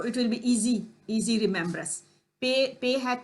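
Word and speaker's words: پ: Pay. Pay. Pay you can remember like payday. You know, you have to relate the letters with any specific thing. So it will be easy remembrance. Pay had 3 dot under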